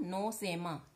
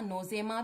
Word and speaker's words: Nosema: दूसरी बीमारी मैंने बोला था नोसेमा, NOSEMA, नोसेमा या नोजेमा भी आप प्रोनाउंसिएट कर सकते हैं।